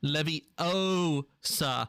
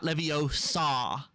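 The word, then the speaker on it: Leviosa: from the movies when guardium Levy Osa not levio saw but yeah and that's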